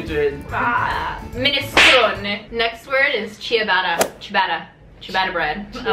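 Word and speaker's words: ciabatta: want what you did Min next word is chabata Chata chabata bread I like it chabata CH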